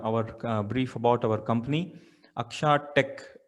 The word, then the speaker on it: Akxa: brief about our company akshat tech akxa is pronounced as aksha stands for eyes which